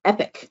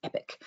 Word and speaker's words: EPC: EPIC is how that's pronounced. EPC is actually pronounced EPIC.